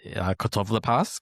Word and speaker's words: Catoblepas: And this is called Kotoblepas. In modern Greek, you say Kotovlepas because the B changed to a V at some point in the Greek language, or the pronunciation of it.